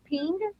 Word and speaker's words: Pingk: Your last name, is it pronounced Ping? It's like pink, like the color, but with jazz hands.